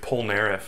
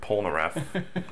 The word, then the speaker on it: Polnareff: These are the same guys who say Polnareff instead of Polnareff.